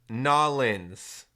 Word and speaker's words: New Orleans: yeah we're going to New Orleans and June yeah pronounced nollans okay I'm sorry sorry